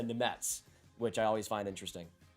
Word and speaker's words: Nemec: If you actually said it how it was spelled, you go Simon like Nemec or something, or even like Nemec, but it's a Nemetz, which I always find interesting.